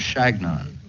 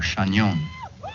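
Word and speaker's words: Chagnon: my name i told them that it was shagnon or shanyon but they couldn't pronounce it it sounded to them like their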